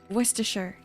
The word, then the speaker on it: Worcestershire: How to pronounce? It's Worcestershire.